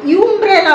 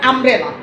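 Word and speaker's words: umbrella: আমরা কিন্তু ইউম্ব্রেলা বলি না, আমরা কিন্তু লিখতে লিখি ইউম্ব্রেলা, ইউ দিয়ে শুরু হয়েছে যেহেতু, কিন্তু উচ্চারণ করার সময় আমরা কিন্তু বলি যে আমব্রেলা।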